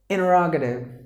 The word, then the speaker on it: interrogative: Americans, interrogative. Interrogative, because NT combination, if there is any word has an NT combination, the T is silent.